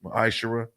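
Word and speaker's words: ma'aser: through 10 means 10th in the hebrew it's pronounced maisha 10 of every penny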